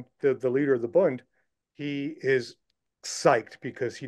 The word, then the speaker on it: Bund: with okay this bone how do you pronounce it the Boone group that they yeah you can say Bund b d correct me from wrong